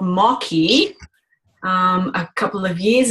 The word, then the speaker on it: Maqui: um I found out about a berry called mocky um a couple of years ago and uh